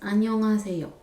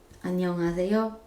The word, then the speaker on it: 안녕하세요: can say is hello, and that pronounced 안녕하세요, 안녕하세요, 안녕하세요, 안녕하세요 in Korean, and it means hello.